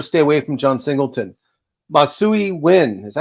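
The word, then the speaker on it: Masyn Winn: pop so you'll stay away from John Singleton masui win is that how you say it Mason winon Mason win the short stop for the um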